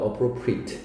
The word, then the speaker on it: appropriate: proper는 뭐랑 비슷한 말로프리트리ate라고 발음하는게 아니라 appropriate입니다. appropriate.